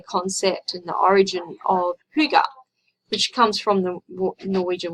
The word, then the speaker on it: hygge: So the origin of hygge, it's sort of, you think it sounds like that, but it's pronounced hygge, H-Y-G-G-E, comes from a Norwegian word meaning well-being.